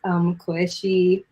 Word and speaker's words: Coueshi: I'm trying to post more, and it's at Koeshi. That's spelled COUESHI.